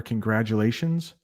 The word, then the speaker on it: congratulations: Try this for congratulations. Grad. I know there's a T in congratulations. We pronounce it as a D.